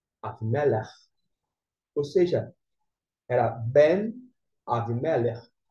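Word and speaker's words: אבימלך: Mas aqui, a pronúncia é Avimelech. Avimelech.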